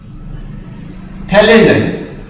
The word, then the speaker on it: phthalate: This compound also we called, this type is called, we called phthalate. This PHTHALate, phthalate, PH silent, just like this.